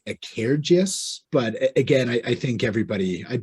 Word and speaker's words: Cairdeas: Yeah, I heard a bit more of, I think, an I in there around a Cairdeas.